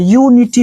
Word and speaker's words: unity: तो व्यंजन से उच्चारण, तो पहला अक्षर का जो उच्चारण हो रहा है वो व्यंजन से हो रहा है, इसलिए हम इस यूनिटी के पहले आर्टिकल का जब यूज करेंगे तो आर्टिकल ए लगेगा।